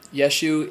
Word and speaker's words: Yeshua: apostasy so whose Yeshu Yeshua is how you pronounce Jesus in Hebrew so it is about